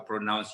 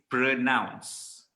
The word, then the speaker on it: pronounce: said is this is pronounced it's not pronounced it's not pronoun it's pra okay the e the valid makes the sound pronounce okay now in malaysia